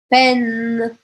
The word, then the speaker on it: peine: Então, vocês podem ver que sempre que aparecer o E com I, nessa ordem, tá? E E vai ser outra coisa, mas E com I nessa ordem, o som vai ser E. E. E aí, se a gente observar aqui, novamente a gente pode cortar, ó. Pen, pen. Eu não vou falar o E no final.